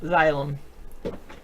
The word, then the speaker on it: xylem: plant damn xylem xylem zylam no xylem starting with the letter x it's spelled kind of like xylophone oh xylo it's in